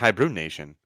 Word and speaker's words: Hi-Bruin-Nation: thank you for joining a hibernation pronounced H Brun Nation it's a quirky name